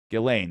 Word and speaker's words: Ghislaine: He and Ghislaine Maxwell, Ghislaine, that's how it's said, jeez.